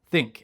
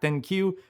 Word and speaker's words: ThinQ: Basically, these are 7 things that I feel are holding back the G7 Think. It's pronounced think, not ThinQ.